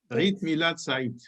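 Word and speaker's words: عيد ميلاد سعيد: Eid Milad Said.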